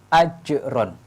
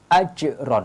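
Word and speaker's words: أجر: huruf Qalqalah Hai maka cara membacanya ajrun tidak boleh AD Hai karena kalau add-on ini qalqalahnya tidak tampak ini salah harus ditambahkan qalqalahnya ajron Hai ceknya ditampakkan kemudian contoh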